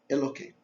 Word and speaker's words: Elokeinu: E Elokeinu, esse K também é para não pronunciar o nome de Deus. O certo seria com H.